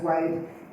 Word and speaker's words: WID: Secondly, WID, pronounced as WIDE, gave us a point that in Nigeria, double the number of women to men have less than 4 years education.